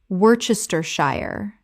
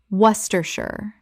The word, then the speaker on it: Worcestershire: yee-ro gyro Word 32 Worcestershire Common mispronunciation Worcestershire Correct pronunciation Woostershire This is one of the most famous spelling traps in English. Three syllables from what looks like seven.